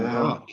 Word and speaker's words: Bach: Oh, Bach, yeah. Yeah. Bach is the German way to pronounce it.